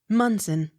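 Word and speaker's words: Monson: k t o n moncton accent on first syllable m o n s o n munzen m o n t g o m e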